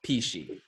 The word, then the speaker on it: Pechia: P she spelled PCH I a yes pronounced P she first cuz we talked about it Karen thanks